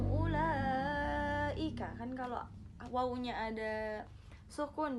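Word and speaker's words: أولئك: Di situ dibacanya langsung aja, wawunya tidak dianggap ada, jadi langsung ulaika.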